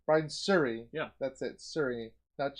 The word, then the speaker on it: Brian Suri: is by i'm going to say it wrong brian siri brian suri yeah that's it siri that's shuri not sure